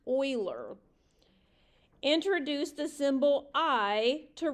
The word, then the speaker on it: Euler: the Swiss mathematician Leonard Euler and it is pronounced Euler introduce the symbol I to represent the square